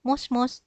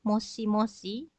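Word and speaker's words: もしもし: Selain itu, kalau di telepon, mungkin juga minasan pernah mendengar orang mengatakan mos-mos, seperti itu ya. Nah, ini pun kalau ditulis itu sebetulnya moshi-moshi. Meskipun kadang ada juga yang mengatakan lengkap ya moshi-moshi seperti itu ya. Tetapi ada juga yang mengatakannya mos-mos seperti itu. Dua-duanya boleh.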